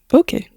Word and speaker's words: bokeh: Bokeh or bokeh as some people like to pronounce it. I think either pronunciation is fine.